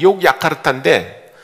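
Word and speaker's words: Yogyakarta: 네, 원래 발음이 이제 욕야카르타인데 그 네덜란드 사람들이 인도네시아를 지배했어요. 그래서 그 지배하고 있는 동안에 네덜란드식 스펠링을 가르쳐 준 것 같아요. 그래서 그 독일도 그렇고 네덜란드도 그렇고 J라고 쓰고 Y로 읽습니다. Y.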